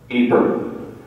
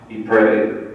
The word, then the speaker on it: Ypres: Ypres, which is a preferred pronunciation now, not Ypres, Ypres.